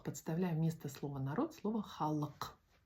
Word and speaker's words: халық: Сегодня мы будем запоминать такое слово, как халк. Халох. Вот здесь вот к с хвостиком. Она звучит не не к, не х, а к халк.